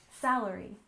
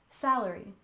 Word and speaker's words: salary: and next we have salary with stress on the first syllable salary salary and this is the